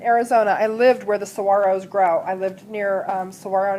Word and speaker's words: saguaro: When I lived in Arizona, I lived where the saguaros grow. I lived near Saguaro National Monument, which is now Saguaro National Park. It's pronounced saguaro.